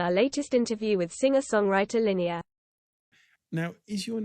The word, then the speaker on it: Linea: Hi, welcome to Darker Side of Music and our latest interview with singer-songwriter Linea. Now, is your name Linea? In Swedish it's Linea, but I often hear that Linea.